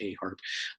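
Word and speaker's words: Eharp: has an instrument that he calls the a harp e uh haarp but they are pronounced a harp um that is was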